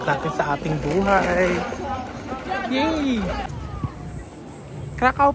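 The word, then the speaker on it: Kraków: Krakao pala pronounce diyan. Akala ko kasi ang pronounce doon krackov.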